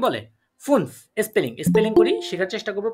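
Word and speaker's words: fünf: এটা আমরা ডয়েচে এটাকে কি ফুনফ। বলবো? ফুনফ। ফুনফ। এফ U umlaut and এফ, এটাকে কি বলে? ফুনফ।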